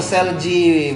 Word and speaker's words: Seulgi: Oh Selji bacanya.